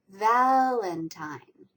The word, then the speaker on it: Valentine: Okay, the next word is Valentine. Which syllable is the strongest stressed? It's the first one, Valentine. The last syllable has a little bit of a stress as well.